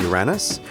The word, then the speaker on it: Uranus: may also have been pronounced with a flat a to sound like Uranus or something more like the Greek name uranos what do British people call it Uranus I don't know I